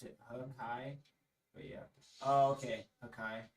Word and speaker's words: Hakai: They pronounce it Hakai, but yeah.